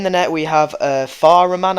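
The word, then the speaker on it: Fährmann: net we have uh far a man I believe is how it's pronounced um he's got 78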